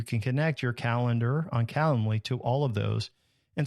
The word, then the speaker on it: Calendly: Then you can set up a tool like Calendly. It's like calendar, but not calendar. It's Calendly. And so do a search for Calendly, Calendly.